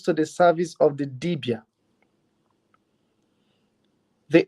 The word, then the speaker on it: dibia: how it comes to the service of the debia the O speaks to the debia about the